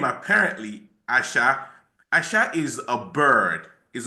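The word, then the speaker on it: Aṣa: So it's pronounced asha but if it's asa and um she uh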